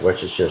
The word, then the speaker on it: Worcestershire: I said it right, Worcestershire sauce.